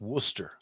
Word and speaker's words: Worcester: tell you uh explain to you how to pronounce Worcester I said did I say it right he said it's Worcester I said I thought that's what I said